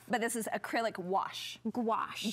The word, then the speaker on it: gouache: this is acrylic wash gouache gouache yes it's like wash with a g in with a G